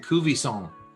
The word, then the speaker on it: Cuvaison: that's cool thank you uh tonight we're tasting kuvi song and uh am i saying saying it correctly song that's right all right tell us all about it baby all right well so kuve san was founded in 1969 when there were about